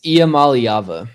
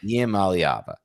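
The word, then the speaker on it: Iamaleava: Nico and I believe it's Ayaleva. Is that how you pronounce it? It's Iava. Iava.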